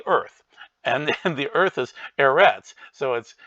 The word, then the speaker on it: Eretz: And keep in mind, Eretz would be earth, which would be with an aleph, which is a silent letter, just like ayin is.